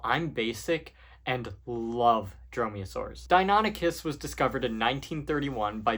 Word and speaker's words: Deinonychus: All right, so next up is Deinonychus, which I called Dinonychus so often that I still catch myself doing it to this day.